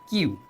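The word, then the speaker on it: queue: এরপর দেখো দ্য কিউ, এটা উচ্চারণ কিন্তু কিউ, এটার উচ্চারণ কি? কিউ।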